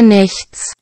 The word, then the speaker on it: Nichts: N-I-C-H-T-S. C-H-T-S. 이건 무슨 것이? Nothing. Nothing.